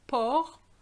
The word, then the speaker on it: porc: And then I'm showing you that pork in French is porc. So the C is not pronounced, but be careful because you have the word porc and porc is, you know, same pronunciation.